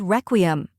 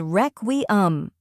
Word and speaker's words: requiem: The correct pronunciation is requiem. Let's break it down. First, we have wreck, which sounds like wreck in wreckage.